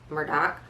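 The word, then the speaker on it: Murdaugh: although it's spelled like murder d-a-u-g-h but it's pronounced in south cac is murder murdoch that um their assets have been controlled by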